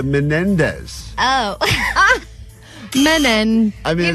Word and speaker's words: Menendez: with saying bada bada you're also missing a syllable in the last name of M of all the names that she gets wrong I'm shocked she's getting this wrong I'm literally saying it right Mendes the Menendez oh men I mean